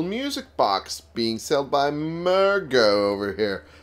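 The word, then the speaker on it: Murgo: box being sailed by murga over here like that's how you pronounce the name mystical mergo yes that's his name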